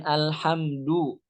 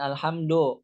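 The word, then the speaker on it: الحمد: Kemudian alhamdu, bukan alhamdo, do. Kenapa?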